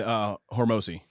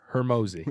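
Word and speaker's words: Hormozi: and Hormozy, they linked up. Can you say his name right? A Horms, Hermosi. Hormozy.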